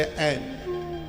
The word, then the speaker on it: ऐं: सबसे पहले ऐं, इसका उच्चारण सही कीजिए। बहुत लोग एंग बोलते हैं जो एकदम अशुद्ध है बिल्कुल।